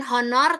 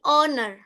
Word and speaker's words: honor: Nah bukan honor tapi owner. Owner. Jadi hanya hilang itu ya pengucapannya.